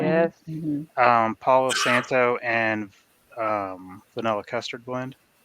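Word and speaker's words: Palo Santo: is that how you say it correctly yes Paulo Santo and um vanilla custard blend and it was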